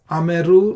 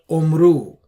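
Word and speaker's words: אמרו: Similarly, this word is ameru, not omru.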